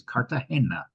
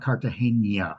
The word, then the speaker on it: Cartagena: point out it is Cartagena. It is not Cartagena, which a lot of people, including myself, always thought. There is no tilde in the name, and it is named